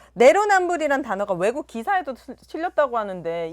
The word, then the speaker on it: 내로남불: 근데 내로 남불 발음이 잘 안 되시네. 그러니까요, 자꾸 여기. 내노라고 하네.